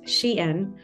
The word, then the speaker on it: Shein: The company, pronounced Shein, became the most Googled name in clothing.